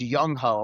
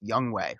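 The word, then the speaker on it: Younghoe: I had all my students the next day going, "Why is your kicker named Yung-ho?" I'm like, "Guys, it's pronounced Young Way.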